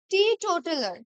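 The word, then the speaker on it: teetotaler: প্রথমেই আছে দেখ প্রথমেই রয়েছে টি টোটেলার ঠিক আছেটি টোটালার দুটোকে কিন্তু একটু আলাদাভাবে একই একই ওয়ার্ড কিন্তু এই টিটাকে একটুখানি আমরা আগে প্রোনাউন্স করব টি টোটালার একটু আলাদা করে ঠিক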